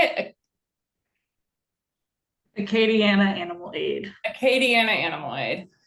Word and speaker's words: Acadiana: Acadiana Animal Aid.